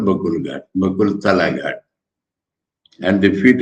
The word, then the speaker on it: Bakul: So it is called Bakul Ghat, Bakul Tala Ghat, and the feet of the bakul tree. Here V is written because the Bengalis pronounce V as Bha. In other languages, B will be written, Bakul, Bakul.